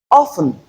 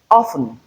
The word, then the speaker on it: often: This particular word has two transcriptions. In other words, two pronunciations. We either pronounce it as often or often. In other words, it is in free variation. We have two ways of pronouncing the word.